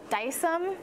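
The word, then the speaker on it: Dycem: And then I have Dice-Em. It's spelled D-Y-C-E-M.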